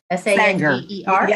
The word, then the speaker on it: Sanger: S-A-N-G-E-R? You have to throw a bit of an Okie accent into it.